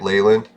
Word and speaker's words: Leland: no i think uh leland is a play on the name leyland you're supposed to actually say it leyland and i realized this